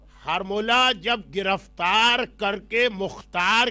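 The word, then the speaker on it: حرملہ: हारमोला, इसका सही प्रोनाउंसिएशन हा पे जबर के साथ है, हारमोला।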